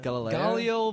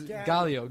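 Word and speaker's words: Gaelio: Galileo. Galileo Baldwin. Baldwin. Galileo. Galo! Galileo? Is it Galileo? It's Galio. Galileo.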